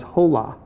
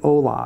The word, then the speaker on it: hola: word so let's say I read it as hole ah but really it's hola and the first person